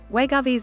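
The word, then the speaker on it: Wegovy: fda said patients inject wegovi pronounced we go v weekly under their skin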